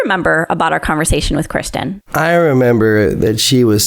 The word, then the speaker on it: Christin: a website my social handle my first name is spelled Kristen c-h-r-i-s-t-i-n Kristen is that's all the handles